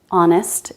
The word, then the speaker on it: honest: There are some common words that begin with a silent H like hour, honor, honest, and herb.